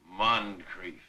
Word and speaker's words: Moncrief: Moncrief. His name doth rhyme with grief, that word so cruel and so forlorn.